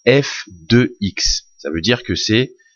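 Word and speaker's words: f(x): ça F entre parenthèses x alors ça se prononce FX ça veut dire que c'est le résultat ou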